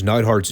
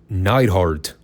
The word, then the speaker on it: Neidhart: And yes, I did properly pronounce Neidhart's name this time. It's Neidhart, not Neidhart.